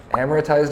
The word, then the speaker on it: amortized: it so we are amorotized is how you say that word amortized over 30 years but